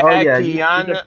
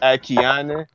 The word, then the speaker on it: Akiane: Yeah, Akiana. She's a painter. Yeah, Akiana. Yeah, that's her name. Akiane. Her last name is kind of tough to pronounce, but her first name is Akiane.